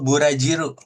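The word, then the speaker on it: ブラジル: Itu Burajiro bacanya. Ya, Burajiro. Burajiro Brazil gitu ya.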